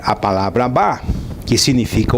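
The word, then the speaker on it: אב: direita para a esquerda, o Aleph e o Beit pronuncia-se Ab, que significa pai.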